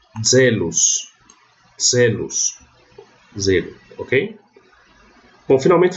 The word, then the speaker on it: zelos: E o Z tem som de DZ, como também é semelhante ao... Eu não coloquei aqui, mas ele também é assim na pronúncia reconstituída. Então eu leio zelos.